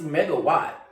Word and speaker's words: MEGAWAAT: It's megawatt, like energy, megawatt, kilowatt, decawatt, a watt.